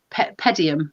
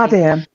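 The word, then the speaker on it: Padiham: That the wife of a chap in Pedium, I can never pronounce it correctly. Padium. There we go, just like that.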